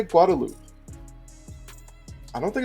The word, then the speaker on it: Guadeloupe: in Group D, so currently, I always say Guadeloupe. I don't think it's Guadalupe. I feel like that's like a Hispanic name. So I believe it's pronounced Guadeloupe.